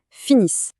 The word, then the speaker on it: finissent: Mais attention, petit piège, les lettres NT à la fin sont muettes, on ne les prononce pas. On dit donc il finissent.